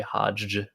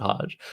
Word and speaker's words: hajj: blank tile to play hajj i can just pronounce it hajj but i really need to put emphasis on there being two j's in a row which is just hilarious